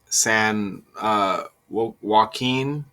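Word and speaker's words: San Joaquin: Uh it was at a banquet hall in Stockton where at least a hundred people were gathered San uh Wen, that's how you pronounce it.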